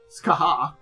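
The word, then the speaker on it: Scathach: Uh Skaha. Can't believe it's pronounced that way. I look at the name and I can't believe it's pronounced that way. Every time I want to say how it's a uh sketch it looks like to me but again it's it's supposed to be ska and again it's so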